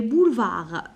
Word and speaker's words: boulevards: Les boulevards, je prononce ni D ni S.